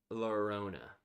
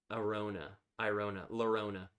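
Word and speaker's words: Llorona: Tears of Lorona. I don't think that's right. I don't think the L is said. Lorona.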